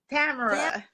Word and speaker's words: Tamara: Tamara. Tamara? Tamara. Tamara. Tamara. Tamara. It rhymes with camera.